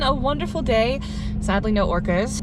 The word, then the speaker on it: Orcas: closet orcas alright guys that's how it's spelled but they all say orcas like orchid anyway I think we're